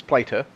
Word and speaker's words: Plater: But really, just saying, that's not how you say his name. It's Plater. Plater, but in America, who knows?